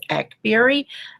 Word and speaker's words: Akbari: say it correctly because my last name is Akbari like blackberry and some people will